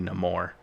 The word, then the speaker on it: Namor: But he's of his people are of Latin descent, so why shouldn't it be Namor? Because that's how you would pronounce it in a Latin language.